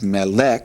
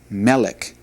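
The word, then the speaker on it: מֶלֶךְ: Now notice that you got the little arrow above the meim. Therefore, that's where the accent should go. So instead of mele, this will be melik.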